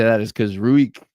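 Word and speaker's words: Ruike: The reason I say that is because Ruik, the knife brand, pronounces it Reich.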